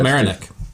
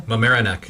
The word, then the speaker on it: Mamaroneck: Mamaroneck. How do you say it again? Mamaroneck. Mamaroneck.